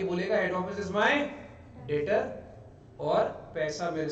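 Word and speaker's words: debtor: Term use करते हैं, डेटर को बोलते हैं डेप्टर, इज नॉट डेप्टर, याद रखना, ये गलती मत कर बैठना, this creates wrong pronunciation, that means थोड़ा सा इंप्रेशन खराब होता है। डेप्टर जैसा कोई चीज नहीं होता, इट्स ओनली डेटर, याद रखिए।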